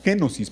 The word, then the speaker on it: kenosis: No sé cómo se pronuncia exactamente, eh, eh, como la tengo anotada, de hecho así aparece. Eh, se pronunciaría como kenosis porque tiene acento en la e.